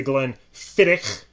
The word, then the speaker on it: Glenfiddich: names are obviously the glenn fittick which you're supposed to pronounce it that way you supposed to have the hack in there yes okay we have